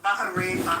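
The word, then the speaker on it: Bahrain: Baja rain by the way is how you say it. But they're absolutely our allies for Beima. Can I answer please? It's Bahar. Baharin H.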